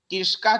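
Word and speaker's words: कृषकाः: आपने देखिए इसमें कृषकाण बताई हो पहले, यहाँ पे कृषकाण नहीं है, यहाँ पे कृषका है बेटा, कृषका।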